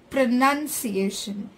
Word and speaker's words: pronunciation: the stress is given on P and s it's pronunciation it's not pronounced iation its pronunciation so the